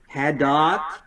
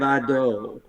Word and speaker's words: Hadot: had instead of ado. The pronunciation of I think I think I I think the person being a French a French uh priest must be ado ado.